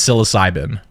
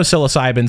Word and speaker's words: psilocybin: Even though psilocybin sounds like it starts with an S, it doesn't. It starts with a P.